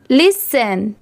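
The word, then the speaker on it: listen: टी ई एन 10 नहीं सन। लिसन।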